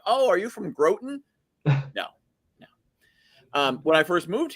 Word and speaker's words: Groton: And frankly, when I first started in 2014, moving to Groton here, and it's Groton, not Groton, for anyone who's confused about the pronunciation.